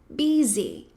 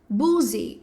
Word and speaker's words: busy: Busy, que muita gente quando lê fala boozy ou a buz. Tudo bem, calma. Mas na verdade esse U ele tem o som de i e esse s vai ter um som de z. Então, busy, busy, busy.